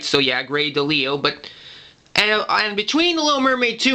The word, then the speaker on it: Grey DeLisle: retrospective video on her but now now I pronounced it right right so yeah grey delisle but and I'm between the Little Mermaid -